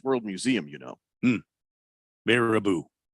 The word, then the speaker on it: Baraboo: oh yeah thunder snow says Jeffrey actually it's pronounced bear Abu Wisconsin which is also the location of the circus World Museum you know hmm Baraboo bear a boo am I really supposed to know that Circus